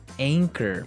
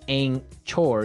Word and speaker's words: anchor: boat word here anchor anchor anchor now it's spelled a n c h o r right but you don't pronounce the CH as you normally would right another one of